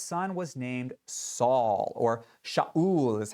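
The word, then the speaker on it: שָׁאוּל: wealth and his son was named Saul or Shaul is how it's pronounced and that comes from the verb shaal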